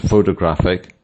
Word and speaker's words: photographic: As you can see, photograph has the stress on the first syllable, photographer on the second, and photographic on the third.